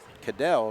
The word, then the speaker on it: Cadell: So Ryan actually pronounced Cadell according to the PA announcer.